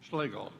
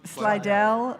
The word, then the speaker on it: Slidell: Slaggel Slidell Louisiana. Slidell. Okay. I'm sorry. Oh, I'm mispronouncing it.